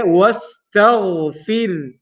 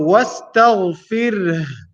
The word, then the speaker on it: واستغفر: So wastaghfir. The sound of ha is still there at the end. So you have to make sure you're pronouncing it.